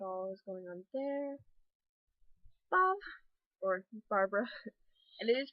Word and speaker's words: Babhdh: So it looks like it's bobbed, but it's pronounced Bob. Because the BH becomes a V, sometimes a W, and the DH becomes a sort of Y sound.